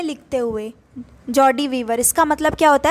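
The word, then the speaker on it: joie de vivre: Next है, ये देखिए इसका प्रोनाउंसिएशन ऊपर लिखा है जॉर्डी, JAW, जॉर्डी वीवर। ये आपने इंस्टाग्राम पे लोगों को देखा होगा बायो में लिखते हुए जॉर्डी वीवर।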